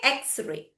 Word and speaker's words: X-ray: So you just remember whenever it is with the hyphen you need to read it as the letter name. Okay. Letter name. What is the letter name of it? X. Okay. X-ray.